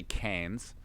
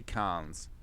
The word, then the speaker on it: Cairns: I do more on the A, so I don't say Cairns, I say Cairns.